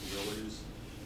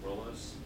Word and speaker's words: Willys: The Willys Jeep, it's not actually pronounced Willys. It's pronounced Willis.